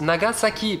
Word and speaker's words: Nagasaki: Revenons du coup à mon exemple de début de vidéo, Nagasaki, comme son nom l'indique, se prononce Nagasaki, parce que ça s'écrit ça, et que c'est la lettre ça, donc ça fait ça, même quand c'est